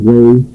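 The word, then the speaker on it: Hue: Yeah, Way, that's spelled H-U-E, but they pronounce it Way.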